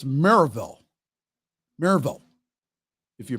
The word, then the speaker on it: Maryville: still planned for Saturday at now it's not Maryville okay that's not how the locals pronounce it it's Merrillville Maryville if you pronounce it quickly Maribel at